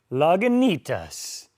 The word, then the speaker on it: Lagunitas: Another hard word for me to pronounce. Lagunitas.